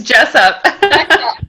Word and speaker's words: Jessop: It's Jessop.